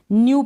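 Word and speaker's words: new: न्यू पढ़ा आपने, क्या पढ़ा, न्यू। नेक्स्ट देखें, न्यू का मतलब नया, न्यू का मतलब नया। यहाँ पर ई और डब्ल्यू के साथ में य का साउंड आ जाएगा, ऐसे।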